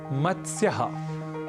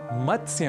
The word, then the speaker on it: मत्स्य: दूसरे उदाहरण की ओर एक शब्द है मत्स्य यहां मतस्य में त स और य इन तीन अक्षरों या व्यंजनों का संयोग है इसलिए इसका उच्चारण हमें थोड़े ध्यान के साथ करना होता है अक्सर हम इस शब्द का गलत उच्चारण कर बैठते हैं और कहते हैं मतस्य मतस्य पालन इस तरीके से कुछ हम शब्द करते हैं मतस्य केंद्र इस तरीके से कई अशुद्ध उच्चारण हम कर बैठते हैं क्योंकि त स और